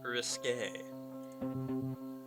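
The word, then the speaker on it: risqué: your idea of risky it's actually pronounced risque oh wow my heart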